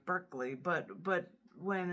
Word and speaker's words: Berkeley: That That's B E R K L E Y, like you're barking up the wrong tree, Berkeley.